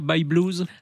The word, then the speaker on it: Bye Blues: By Blues ? By Blues. Alors, By Blues, ça s'écrit B-Y-E-B-L-U-E-S.